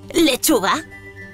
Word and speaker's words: lechuga: ejemplos colegio colegio la penúltima sílaba es la sílaba tónica por lo que esta palabra es llana más ejemplos de palabras Llanas lechuga lechuga o o fruta fruta que además son